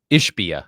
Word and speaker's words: Ishbia: Ishbia.